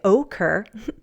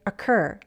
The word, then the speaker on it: occur: And in the verb occur, we don't use a long O sound and say occur. The stress is on the second syllable, so we say occur. The O reduces to a schwa sound.